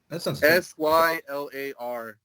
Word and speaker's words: Sylar: check out soul or sy lar and a full disclosure Tyler yeah do you ever watch the show heroes yes yes I think it's a reference to that guy because they pronounce it Sylar mm well and you